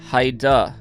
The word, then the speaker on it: Heidi: and jessica shout out hi duh from montana it's height spelled heidi but she said pronounce hi duh okay okay um we'll